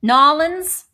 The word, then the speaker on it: New Orleans: Even though Angie's in Indy, Toby's in New Orleans, Nolans. I have to say it correctly, you know.